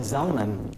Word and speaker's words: Zalman: I really like how you said Zalman, like Yiddish. It's a very nice pronunciation.